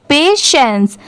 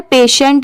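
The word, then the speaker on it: patience: S kind हैसर पेशेंस बहुत सारे लोग इसे गलत प्रोनाउंस करते हैं बट इसकी सही प्रोनंसिएशन क्या है पेशेंस यहां पर पेशेंट नहीं पढ़ेंगे पेशेंस यहां पर पी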